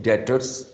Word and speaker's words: debtors: इसी तरह एक और करंट एसेट्स होता है अकाउंट्स रिसीवेबल्स, जिसको हम डेटर्स भी कहते हैं। इसमें टी हम साइलेंट बोलते हैं, डेटर्स, ठीक है।